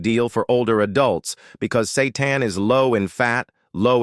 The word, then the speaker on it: seitan: Seitan 39G protein per 100 gl. Seitan, pronounced seitan, might not be on your radar, but it should be.